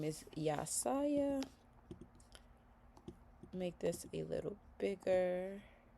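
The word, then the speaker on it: Yahsiah: His name is spelled Y-A-H-S-I-A-H. His name is Yasaya.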